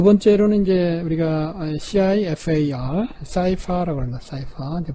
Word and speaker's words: CIFAR: 자, 두 번째로는 이제 우리가 CIFAR, CIFA라고 합니다. CIFAR. 이제 발음이 우리말로 좀 거칠어지기 때문에 10개의 클래스를 이렇게 나누는, 좀 전에 우리 했던 것이 이 중에서 5개가 상위권이고요.